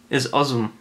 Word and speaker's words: osm: original designer was Czech the word for eight and Czech isum which is spelled osm the puzzle also is